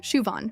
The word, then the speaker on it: Siobhan: Siobhan O'Brien. Shuvon. Perfect.